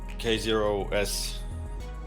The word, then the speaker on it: k0s: kubernetes and containers uh first things first so k0s is the the way to pronounce the project name uh i mean that's